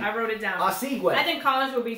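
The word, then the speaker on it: Osuigwe: Danielle Collins, the 25th seed from the USA, will play Whitney Oswego. Thank you, Arvis, for the pronunciation. I wrote it down. Oswego.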